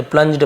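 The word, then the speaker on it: plunged: Grief, वर यानी थे, प्लंज्ड जी के साथ ई हो, आई हो, वाई हो, तो जी का ज हो जाता है, ग नहीं होता, प्लंग्ड नहीं पढ़ेंगे, प्लंज्ड पढ़ेंगे।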